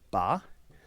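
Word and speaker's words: 八: good fortune um and it's pronounced ba and I guess that is very close in sound uh to fa which means good fortune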